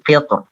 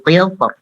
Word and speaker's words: قطر: Kemudian qitr itu dibaca dengan tipis oleh Ibnul Jazari ya, seperti itu.